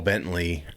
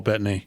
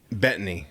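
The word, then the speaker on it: Bettany: That's just like when Paul Bentley um is that how you say his name? Bentley play division. Yeah. He basically Oh, Paul Bettney. Betany. Yeah. Sorry.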